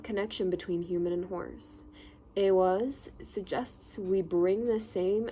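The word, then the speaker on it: Ehwaz: Pronounced awas.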